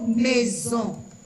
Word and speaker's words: maison: Par exemple, on a le mot maison. Aquí la S está en el medio de dos vocales, suena como Z.